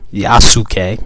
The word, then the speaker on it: Yasuke: know this but uh yasuke or yasuke is how you actually pronounce it um chadwick was supposed